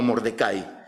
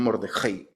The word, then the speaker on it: Mordecai: lo podemos conseguir como Mordecai, que también se pronuncia así. En realidad, cuando estuve en Israel, había muchas personas que se llamaban Mordecai, le decían Mordejai, así como Mordejai, sí, Mordelone, Mordejai.